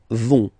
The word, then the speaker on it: vont: Ils, elles vont. Ils vont. Elles vont. Okay, remember, final T not pronounced, so you get this ON nasal here. On vont.